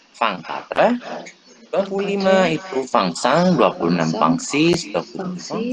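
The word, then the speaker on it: cinq: 5 itu sang. Ini bacanya sang ya. Kalau ini sang ini kalau dalam bahasa Prancis, sang itu artinya darah.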